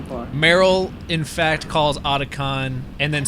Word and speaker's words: Otacon: Yeah, like Otakon, because that's how he pronounces it. Yeah. Otacon.